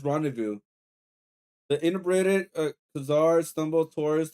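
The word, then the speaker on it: rendezvous: The Z and the final S are silent.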